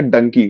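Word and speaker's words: Dunki: Khan's movie is a donkey d-u-n-k-i it sounds like donkey and will be explained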